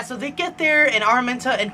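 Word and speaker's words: Araminta: married to Armenta and I didn't know how to say her name until I watched the movie and they're like Armenta I'm like oh that's how you say it I don't know what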